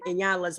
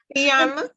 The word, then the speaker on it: Iyanla: With Danny, Shahira said, and I always mispronounce it in Inyala's. I can't get it out of my mouth right. You said it. Iyanla. Okay, Iyanla. I always say Inyala.